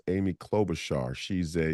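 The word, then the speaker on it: Klobuchar: clob Butcher they called her she it's it's pronounced Amy clob Bashar she's a u she is the most dangerous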